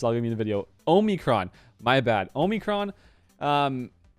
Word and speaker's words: omicron: what is it omicron it's not omnicron oh there's no n in there okay i'm not gonna i'm not gonna edit this out this i'll give you a video omicron my bad omicron um